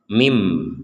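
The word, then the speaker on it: من: Sekarang kita praktekkan nun sukun digabungkan dengan ba, maka nun sukunnya yang barusan dibaca jelas sekarang berganti dengan huruf mim, sehingga terbacanya mim, bukan min lagi, bukan min tapi mim.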